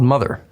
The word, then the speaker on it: MOTHXR: It's called Mother, spelled with an X.